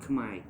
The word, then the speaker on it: Khmer: And Americans won't understand it because it's spelled Khmer, but it's pronounced Khmer.